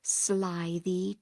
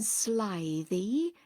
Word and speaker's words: slithy: me: how to pronounce slithy toves. The I in slithy is long, as in writhe, and toves is pronounced so as to rhyme with groves.